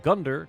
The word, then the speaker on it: Gundyr: more quality version of Lorex ruse wherein I pronounce the name Gunder correctly in our travels as the unconditioned err